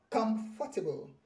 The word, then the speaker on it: comfortable: Then the next one is, the stress is on come. It is comfortable.